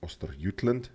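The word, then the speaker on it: Östergötland: Yes, it's pronounced Ostergotland, just like the skein is actually pronounced Squane.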